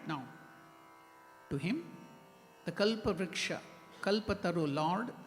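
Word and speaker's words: कल्पतरु: specialtity that is kalpataru many of us here pronounce it as kalpatru kalpatru it is kalpataru wish yielding tree means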